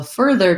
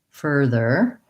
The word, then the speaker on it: further: So further just has two Ers. It's basically like fur and then there. And starting with my first in the stress syllable might help me, like fur, further. Also, if THER is more